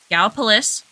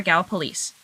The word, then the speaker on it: Gallipolis: There's two ways of pronouncing this city: Gallipolis or Gallipolis. I only know this because I have lots of friends that live down in that area, and I got corrected every time.